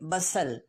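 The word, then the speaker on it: bustle: बसल, टी को silent करेंगे, बसल, sugar मेला।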